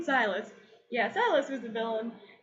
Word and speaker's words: Silas: Silas.